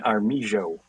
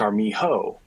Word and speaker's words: Armijo: your most mispronounced thing, because a lot of people see it and they go, okay, well, we're gonna go for the absolutely 100% Spanish version Armijo, right? But it's Armijo.